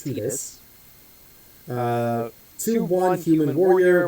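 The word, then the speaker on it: Tidus: I know it looks like it says it should be Titus but it is actually pronounced Tetus.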